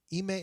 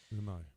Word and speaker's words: Imai: And I asked him, "Do you know Tatsuya Ime, or it's Imai, right?" Imai.